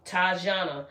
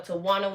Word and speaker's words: Tajana: I don't know what I was thinking because I spelled her name like Tawana back then. Young folks, you know. So people call her Tawana when it's Tajana. So it's Tajana, 3 syllables.